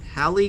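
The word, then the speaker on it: Halley: does he realize that that halle guy that rhymes with ali and the sally um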